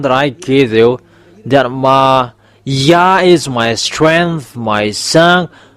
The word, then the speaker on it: Yah: um read it together the result is y a h it's yah. So if we read it it's yah. Oh it becomes rider. That's it. Have this. Yeah. How to read it. Yah is the way how to read it. So remember it well. When you say this y and hey, it's yeah how to read it. You don't go far away. You say yeah.